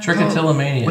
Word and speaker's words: trichotillomania: word trick to anemia trick what does that trichotillomania yeah again trichotillomania okay and explain the word I don't know